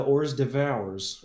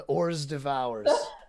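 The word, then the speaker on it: hors d'oeuvres: All right, because I like that word, and usually the first one gets pronounced with an H, and I'm glad you didn't go with that one.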